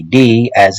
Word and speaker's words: Tao: I'm a martial artist I pronounce it Dow with a d as it is that is